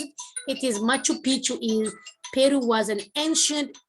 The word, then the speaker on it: Machu Picchu: button city yes three machu picchu in peru was an ancient city yes machu picchu it's not a makopichu i cannot pronounce it i couldn't pronounce it it is machu picchu in peru was an